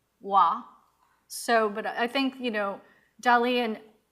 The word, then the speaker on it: roi: for king, which is spelled R-O-I, but it's pronounced wa. So, but I think, Dalí and Schiaparelli was like, let's make it very, like American, Roy.